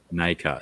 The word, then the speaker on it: nacre: How do you say the NACRE version? Nacre, is it?